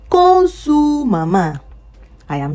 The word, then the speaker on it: mamá: Buenos días, mamá. An accent on the last A.